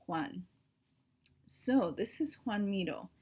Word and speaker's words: Joan: and his name is Huan Mito I know it kind of looks like Joan but it's pronounced one so this is one